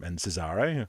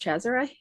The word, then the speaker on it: Cesare: Well, it's an Italian name, and as far as I'm aware, it's pronounced Cesare.